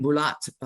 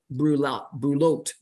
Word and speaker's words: Brouillot: Brian Brouillot, who is, sorry, I do that again, Brouillot, I apologize, who is president CEO of Maxis Staffing and Recruiting, a recruiting agency in Ottawa. I want to pronounce it in a French pronunciation.